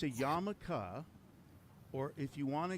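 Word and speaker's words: yarmulke: So, stop saying yarmaluke. It's a yam. Well, then thanks for that. It's a yamaka, but but say this because it's less syllables.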